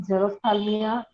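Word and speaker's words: xerophthalmia: Person will suffer from जेरोथाल्मिया, जेरोडर्मा and night blindness. ना यहाँ पे ना ये जीरो जो है XCRO, ओके, इसको प्रोनाउंस करते हैं जीरो।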